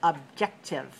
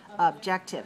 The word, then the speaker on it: objective: the next word it's objective objective two dots means three syllables and this one really is three syllables objective and where's the stress second one all right so three